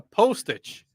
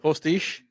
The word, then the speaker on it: postiche: A fake beard is called a postage A postage. or a prosthetic beard. Postage. Postage? That works for me. I don't know. Postiche. It rhymes with quiche.